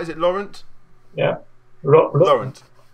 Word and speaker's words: Laurent: Is it Laurent? yeah. Laurent. Is that right, Laurent? Without the T at the end. Oh, Lauren. Lauren. Yeah. Lauren.